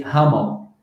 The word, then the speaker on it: humble: Okay, one idea to improve your pronunciation here is for you to know that whenever there's an M and B in English, the B you don't pronounce. You say hummel.